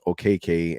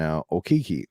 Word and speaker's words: Okeke: his Nigerian background and has learned how to appropriately pronounce his name, which is Okeke and Okiki.